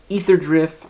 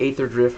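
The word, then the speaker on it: Aetherdrift: active set is is ether drift or ather drift however you want to pronounce it I I like to pronounce it Aether drift um and so you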